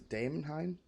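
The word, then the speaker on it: Daemonheim: much about the stuff in there is a dame Haim and that's how it's pronounced hmm well that's all essentially just the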